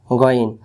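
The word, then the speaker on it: غين: বাদ দেই এই যে এটা আইন নুক্তা থাকলে গইন নুক্তা না থাকলে আইন আর নুক্তা থাকলে গইন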